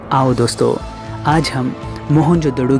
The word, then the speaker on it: मोहनजोदड़ो: आओ दोस्तों आज हम मोहनजोदड़ो की गलियों में घूमते हुए हमारी प्राचीन सभ्यता के गौरवपूर्ण अतीत को महसूस करने की कोशिश करते हैं मोहनजो डरो शब्द का सही उच्चारण है मोहनजोदड़ो और सिंधी भाषा में